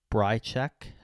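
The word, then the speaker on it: Bryczek: uh versus Robert uh breek I believe is how you pronounce his name breek minus 200 a bit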